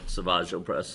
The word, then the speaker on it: Savage Opress: So anyway, we see Savage or is it Savage? Savage Opress is how they pronounce it, I think.